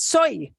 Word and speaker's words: soy: the word I okay soy that looks like soy sauce and it's pronounced the same way as soy sauce soy soy means I am